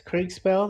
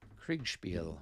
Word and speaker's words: Kriegspiel: So what's Kriegspell that you're talking about? So Kriegspiel is a Kriegspell? Kriegspiel.